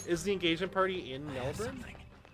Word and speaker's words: Melbourne: Is the engagement party in Melbourne? Or sorry, Melbourne? I have to say it like they always yell at me for saying it wrong. Melbourne.